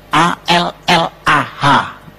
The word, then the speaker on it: Allah: Cuma dia membacanya, ngejanya beda sama kita. Kalau kita cukup Allah gitu. Kayak bercanda sama teman aja, Allah lu gitu aja tersinggung gitu ya. Kayak begitu, ringan gitu. Bacanya itu ringan. Tapi kalau mereka itu terpengaruh dengan bahasa Arab. Jadi gak ringan, Allah.